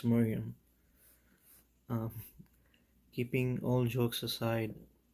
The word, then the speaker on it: Mariam: anti-marine fashion she said it doesn't really matter how it's spelled at the end of the day it's still pronounced miriam um keeping all jokes